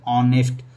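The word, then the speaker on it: honest: मैंने इसको जो प्रोनाउंसिएट किया है वो है ऑनेस्ट, ओ आ रहा है आप, जो कि क्या है, हिंदी का स्वर है।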